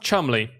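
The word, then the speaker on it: Cholmondeley: pronounced i mean history it's pronounced chumly watch how i spell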